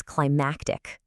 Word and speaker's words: climactic: The first word is climatic. See that A sound? Climactic. That's all about the climate, you know, the weather. But the second word is climactic. Hear that? Climactic.